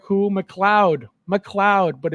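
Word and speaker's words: MacLeod: uh Conor M who McLoud McLoud but it's spelled like m a c l e o d ma lead ma lead but it's pronounced McLoud um Ralph mcar concept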